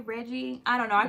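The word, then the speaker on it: Regé: excited is it reggie is it reggie um reggae this one says pronounced reggae um i was very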